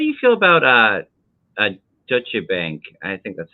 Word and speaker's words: Deutsche Bank: it no it's pronounced Deutsche okay like the German actually what that means is German Bank the German word for German is Deutsch so deutsche's bank is